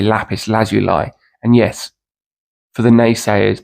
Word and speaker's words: lapis lazuli: first of all there's about 18 perfectly acceptable pronunciations for lapis lazuli two lapis lazuli lapis Laz you lie is considered is generally considered to be the